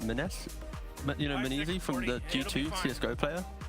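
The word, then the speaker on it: m0NESY: Kind of looks like Menes, you know, Menezi from the G2 CSGO player. Oh, I think it's pronounced Monacy.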